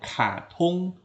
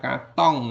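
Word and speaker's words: 卡通: dari bahasa kartun kartun kita bilangnya katung bukan Katong ya bacanya yang betul adalah katung Mi Mi ini penggemar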